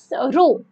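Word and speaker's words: rho: Physical quantity आती है, क्या क्या बोलते हैं, रो, क्या वो कैसे इसको प्रोनाउंस करते हैं बच्चे, रो से, और ये होती है volume charge density, volume charge density.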